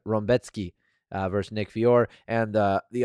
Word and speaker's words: Rębecki: Alhassan versus Claudio Ribeiro, Mateus Rebeki versus... That's not Rebeki. That's not how you pronounce it. I have it. Rębecki versus Nick Fiore, and the other three fights that are on the prelim.